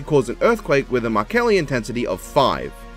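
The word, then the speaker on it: Mercalli: enough energy to cause an earthquake with a markelli intensity of five Mark Kelly that's why now it's pronounced again thank you big Speedy the engineered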